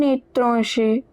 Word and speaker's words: étranger: Au marché au marché il rencontre un étranger. Un é tran ger. E has an accent on top so it is pronounced as é.